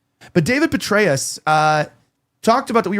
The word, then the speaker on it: Petraeus: That being said, uh the CIA director David uh how do you say Petraeus? That's how you say it right. I always read it Petruse. But David Petraeus uh talked about that